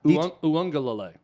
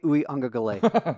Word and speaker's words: Uiagalelei: It's Uiagalelei. DJ Uyunglele. Yeah, you're pronouncing you made the mistake of pronouncing done, every David.